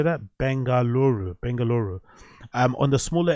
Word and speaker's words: Bengaluru: Bangalora or Bangaluru how do you say that Bengaluru Bengaluru um on the smaller end of things